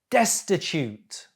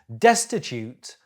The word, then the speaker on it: destitute: thousands of people destitute the stress is on the first syllable destitute destitute very poor jittery nervous